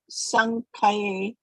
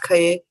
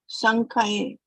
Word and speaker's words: saṅkhye: Arjuna uvāca kathaṁ bhīṣmam ahaṁ saṅkhye No, not droṇaṁ khaye, not khaye. saṅkhye. Why are you saying khaye? Where is the A here in the last word, last syllable?